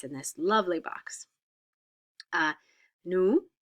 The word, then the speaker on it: nous: Nous, we don't pronounce the S, and vous, we don't pronounce the S.